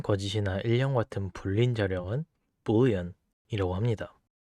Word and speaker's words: boolean: 자, 그리고 아무것도 없는 것을 의미하는 이 자료형은 null이 아닌 null이라고 발음하고 참, 거짓이나 일령 같은 불린 자료형은 boolean이라고 합니다. 한글로는 불린이라고 하는데 영어 발음은 boolean입니다.